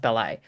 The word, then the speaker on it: Belli: I think I called him Belly, but is apparently is pronounced Belli.